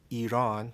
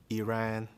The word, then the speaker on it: Iran: The country as we know today, Iran, that's how it's pronounced because I've heard many different pronunciations. I've heard Iran, but the correct pronunciation is Iran.